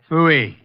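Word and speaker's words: pfui: Fooey. It can be spelled in several ways. I spell it P-F-U-I. Fooey.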